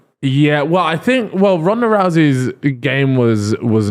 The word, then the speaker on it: Rousey: Is that how you say it? Rousey? Ronda Rousey. Ronda Rousey, who, by the way, was fucking cold in her time.